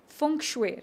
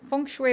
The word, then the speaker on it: feng shui: Funue, right? Funue is how it's pronounced.